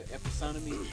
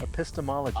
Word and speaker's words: epistemology: The epistanomy? Epistemology.